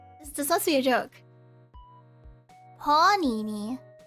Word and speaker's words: panini: Panini. Emphasis on the A.